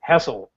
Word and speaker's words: Hessel: Hessel. Please tell me I pronounced the last name right.